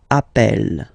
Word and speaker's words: appelle: they are the same, then it does change the pronunciation of a. You tend to pronounce it like really open. That's the reason why you pronounce it appel, okay?